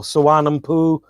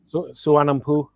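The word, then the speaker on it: Suvarnabhumi: Well, the nickname is Swampy or Suvarnampu, Thailand, yeah. Suvarnampu.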